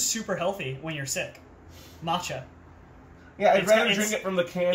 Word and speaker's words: matcha: drink it's super healthy is it not pronounced maca no it's matcha wow that damaged my